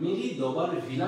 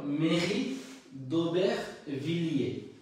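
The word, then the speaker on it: Mairie d'Aubervilliers: তাহলে উচ্চারণটা হয়ে গেল মেরি দোবের ভিলিয়ে মেরি দোবের ভিলিয়ে তাহলে আমরা যা উচ্চারণ করি মেরি দোবার ভিলা আসলে এটা কিন্তু মেরি দোবার ভিলা না ওবের ভিলিয়ে মেরি দোবের ভিলিয়ে আর আরেকটা যে আমাদের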